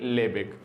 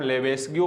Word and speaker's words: Lebesgue: तो आप इसका प्रोनाउंसिएशन चाहे आप लेबेस्ग्यू बोले या आप इसका लेबेग बोले, क्योंकि हाफ से गए साइलेंट रहते हैं, आपको इस रूल्स के चक्कर में नहीं पड़ना।